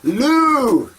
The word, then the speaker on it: Lou: Lou! Rhymes with zoo.